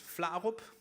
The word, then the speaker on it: Flarup: Danish pronunciation is Flarup.